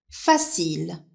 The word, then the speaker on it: facile: The word for easy in French, facile. Facile. Repeat after me. Facile. Let's break it down into syllables and say them one by one. Cil, cil, facile, facile.